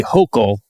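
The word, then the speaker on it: Hochul: And uh Governor Kathy Hokll, I'm told, pronounced like Yok.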